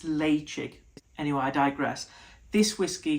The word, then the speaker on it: Ledaig: You think it's Ledaig, it's not. I think it's Leitchick.